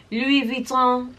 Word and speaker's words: Louis Vuitton: issues with Louis Vuitton, but however, let me pronounce it properly. Louis Vuitton has always done the utmost, and I have been to the boutique on Fifth Avenue.